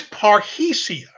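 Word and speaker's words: parrhesia: for you absent the slide the word is parhecia it is spelled p-a-r-r h-e-s-i-a-p-a-r-r-h-e-s-i-a it it pops up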